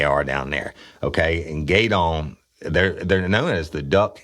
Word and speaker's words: Gueydan: at the Barn Lounge in Gaydon, Louisiana. And that's spelled Gueydan, Louisiana.